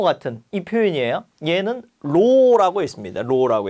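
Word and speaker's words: ρ: 구자 거꾸로 해 놓은 거 같은이 표현이에요 얘는 로라고 했습니다 로라고 일 거예요 자 그다음에 동역하고 압력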